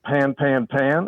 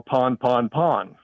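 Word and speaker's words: pan-pan: pan pan pan well the discussion was was is it pronounced pan pan pan or pon pon pon um the group that said Pon said this is derived from the French word pon which means breakdown the pan group said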